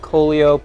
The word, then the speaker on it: Kolio: No, he's not Coolio. It's Kolio.